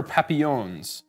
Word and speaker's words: Papillon: two new exclusive Booker papillons heard in the comments how to pronounce the word it's it's French and it's Papillon apparently it means butterfly which I think is